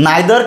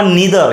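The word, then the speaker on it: neither: निदर निदर ऑफ तर generally इ आयदर किंवा इदर हे दोन्ही प्रोनन्सिएशन बरोबर आहे नायदर किंवा निदर हे दोन्ही प्रोन्सशन बरोबर येतात लक्षात ठेवा जनरली आपण इंडियन लोक नायदर म्हणतो पण निदर सुद्धा एक्सेप्टेबल आहे काही प्रॉब्लेम नाही याच्यानंतर जे नाऊन घेतो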